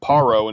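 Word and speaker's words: פרעה: the modern hebrew it's paro instead of pharaoh and that actually corresponds with the egyptian pronunciation is a pa instead of a fa um mitzrayim is later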